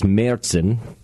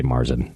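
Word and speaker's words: Märzen: varies to I believe in German it's meren uh not not with a a but you got air meren um or in English you could just say Marsen like it's a Marsen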